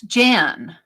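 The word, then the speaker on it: Jane: The E is silent. So it's Jan.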